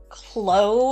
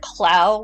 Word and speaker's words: Clow: That, and they said Clo instead of Clow, which was weird.